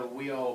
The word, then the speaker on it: WIO: and then why the wheel program we that's how we pronounce it whe and a stand for